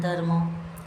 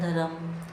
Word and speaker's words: dharma: Have you ever noticed that Hindi speakers often pronounce words like karma and dharma as karam and dharam, inserting an extra a sound between r and ma, removing the ending a sound?